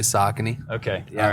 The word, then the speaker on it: Saucony: marketing specialist with the brand that we all love to mispronounce, Saucony, or Saucony. Which one is it? It's actually Saucony.